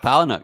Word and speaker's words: Palahniuk: Good Chuck Palahniuk, yeah. Mm-hmm. How do you pronounce it?